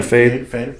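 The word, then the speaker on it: Feid: Am I saying it right? Fade. Yeah, Fade.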